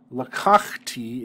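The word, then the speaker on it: לָקַחְתִּי: And so here, lakachti is not accented on the final syllable, it's accented on the second to final syllable. And that's in order to make it easier to pronounce. Instead of three full syllables in a row accenting the final one, instead we shift that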